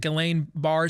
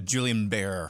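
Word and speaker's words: Guillain-Barré: how to pronounce gbs is it galain bar syndrome uh julian bear julian bear syndrome so i totally had it wrong my bad four weeks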